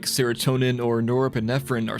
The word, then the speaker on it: norepinephrine: Acetylcholine levels are high, maintaining brain activity, while monoamines like serotonin or norepinephrine are silent, creating the unique REM sleep environment. By the way, I was pronouncing norepinephrine as norine pinfrine in the last video.